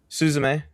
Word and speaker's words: Suzume: Suzume.